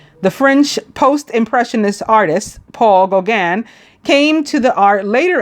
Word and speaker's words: Gauguin: Or Gauguin, I think it's pronounced. It's a French name.